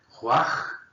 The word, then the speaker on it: Ruach: Na língua hebraica se fala da seguinte maneira, Ruach Yahvé. Perceba que a pronúncia aqui, ainda que a minha não seja tão boa, no caso, mas a pronúncia é quase que como um assopro.